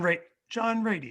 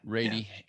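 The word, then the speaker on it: Ratey: Yeah, John Rady. Yeah. Rady.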